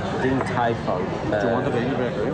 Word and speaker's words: Din Tai Fung: Din Tai Fung. Din Tai Fung.